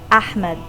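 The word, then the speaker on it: أحمد: pronouncing the name because the letter ha in Arabic does not exist in English so his pronunciation is Ahmed and it's a very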